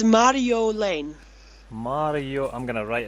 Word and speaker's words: Marjolein: for the Dutch on so I just say Lane like l a n e Lane Mario Lane Mario Lane yeah that's perfect you say I don't